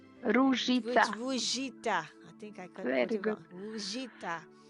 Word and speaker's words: Ruzica: journey with, she's going to correct me again, Rugita. Ruzica.